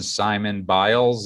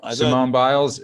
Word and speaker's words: Simone Biles: If you're a huge athlete, this person, Simon Biles, is that how you pronounce her name? Well, I thought this person was just Simone. dropped out of the. Simone Biles.